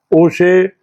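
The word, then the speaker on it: Auger: It is briefly put it as AES, or the pronunciation is O-share electron spectroscopy.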